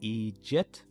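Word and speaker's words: eejit: Pronounced Egypt, the word just means idiot and is commonly used along with the word big.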